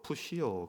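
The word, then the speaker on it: φυσιόω: 이게 원어로 푸시오 그렇게 발음하는 단어랍니다.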